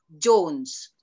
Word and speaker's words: Jones: Kalau John itu John, tapi kalau Jones bacanya Jones.